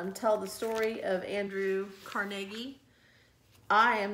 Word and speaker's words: Carnegie: Sometimes it's pronounced Andrew Carnegie. When I was growing up, it was oftentimes referenced as Carnegie Hall. So I've always pronounced it Andrew Carnegie.